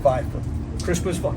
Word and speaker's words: Pfeiffer: Crispin Pfeiffer. Crispin Pfeiffer, yeah. Glad to have him on board. That's awesome. Okay, there's a silent P involved. Yeah, the Pfeiffer, yeah.